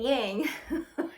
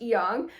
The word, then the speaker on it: yang: And you probably have heard of how most people say it, yin and yang. It's more appropriately pronounced yang.